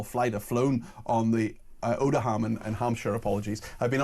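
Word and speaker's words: Odiham: She said, I worked at RAF Oldham, O-D-I-H-A-M, how do you pronounce it? Oldham, it's Oldham, sorry, she spelled that correctly.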